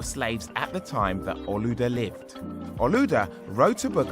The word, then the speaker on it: Olaudah: In Nigeria, where he came from, they pronounce his name Olaudah.